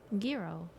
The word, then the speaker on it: gyro: anymore it's dry yoodles but there's a g in it no way that they skipped the G no I don't believe that I swear I watched a video I think the G is completely silent is it really oh